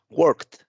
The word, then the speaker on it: worked: Yo tengo la letra K y aquí, pues bueno, yo no pronuncio ni la E ni la D. De hecho, lo que pronuncio es una T, ¿no?